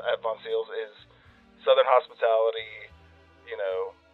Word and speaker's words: Voncille's: you can check us out on our Instagram Von seals v o n c i l l s Von seals whenever I was inviting you on the show I was like I'm going to mispronounce vones a thousand times everyone does it's totally cool